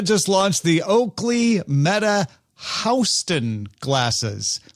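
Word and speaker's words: HSTN: Meta just launched the Oakley Meta Houston glasses, but it's spelled H-S-T-N. Not Houston, not Houston, but Houston, you know, like the place you go south of in New York City.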